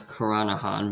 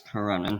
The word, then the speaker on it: Karanan: I used to always pronounce it as Karanahan, but it's Karanan.